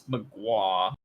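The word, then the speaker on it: Mgła: It's got 3 consonants in a row. I think it's mgwa.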